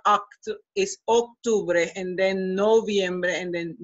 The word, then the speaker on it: Octubre: all the months pay attention in terms of pronunciation that o to Bray is an o se is not act is Octubre and then noviembre and in DC ember accept